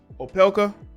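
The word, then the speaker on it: Opelka: most recently linked to fellow tennis player riley o'pekka that's how you say it oppelka but neither of them ever confirmed a relationship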